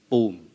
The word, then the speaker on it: pum: the term poom is written as pum in Cambodian but pronounced as boom okay and uh um